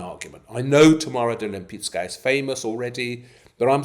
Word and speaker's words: Lempicka: Lempicka Very good. That's it. You and I we're going to pioneer proper pronunciation of Lempicka.